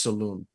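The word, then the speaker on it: Salaün: l a I think but it's it's it's pronounced Saloon like Sal interesting yeah I I I think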